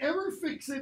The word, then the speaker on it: fixed: So, it is an ever-fixed mark. Notice the little accent, because you have to pronounce that final syllable.